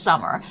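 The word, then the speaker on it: Somer: I break out into hives with these names because I'm Summer, S-O-M-E-R, pronounced Summer.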